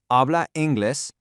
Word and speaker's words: habla inglés: Just keep that silent H in mind right at the beginning and stress the E in inglés where that accent mark lives. Habla inglés.